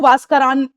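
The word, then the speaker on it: Huascarán: That's, एक है आपकी हुआस्क्रान और एक है आपकी मिस्टी। हुआस्क्रान एंड, इसको अगर आप ऐसे प्रोनाउंस करोगे जो इसका एक्चुअल नेम है वो वास्करान बनता है, लेकिन हम क्यों बोल रहे हैं हुआस्करान?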